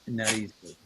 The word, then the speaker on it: narices: That's a little trickier because it already has that S sound at the end of it, but it's las narices.